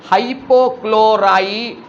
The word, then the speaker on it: হাইপোক্লোরাইট: এই কারণে উচ্চারণ করার সময় এই যৌগটার নাম হবে হাইপোক্লোরাইট। খুব সেন্সিটিভভাবে উচ্চারণ করবি টটা, যেন মাস্টারমশাই বুঝতে পারে যে তুই ব্যাপারটা খুব ভালো করে বুঝেছিস। যদি কখনো ড উচ্চারণ হয় তাহলে -1 জারণ স্তর থাকে, আর ট হলে +1।